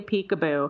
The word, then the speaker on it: Picabo: And she literally got her name because she loved to play peekaboo. It's spelled Picabo, but her name never made it to the top 1,000s, alas.